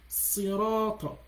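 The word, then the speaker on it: صراط: Like for instance, if someone is gonna say sirata, which is sod. But if you're, instead of you saying sirata, but you're saying sirata, you're not pronouncing sod anymore. It should, in that area, in this place now, it should be sirata, right? It should be see my mouth. Sirata, sirata, sirata.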